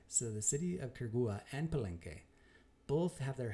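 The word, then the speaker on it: Quiriguá: We're not going to declare positively that the ruins of Quirigua, right, Quirigua, see if you can pronounce that 10 times fast.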